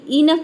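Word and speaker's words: enough: इसको बोलते हैं इनफ कई सारे स्टूडेंट इसको एनफ प्रोनाउंस करते हैं ए का साउंड देते हैं ए का साउंड नहीं होता है ये होता है आपका इनफ ठीक है तो ई एन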